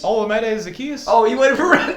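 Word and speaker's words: Olamide Zaccheaus: Olamide Zacchaeus is his name.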